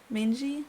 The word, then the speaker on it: mangy: Mangy?